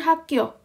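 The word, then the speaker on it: 학교: Oke, sama dengan hakyo. Jadi hakyo. Jadi dia H, A, K, hakyo. Nah, ini G-nya jadi double kita bacanya. Jadinya hakyo.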